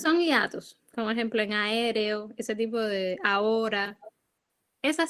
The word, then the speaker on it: aéreo: Sí, por ejemplo, en el caso de aéreo, la fuerza de pronunciación cae en la E. No cae en la A y se acentúa la E.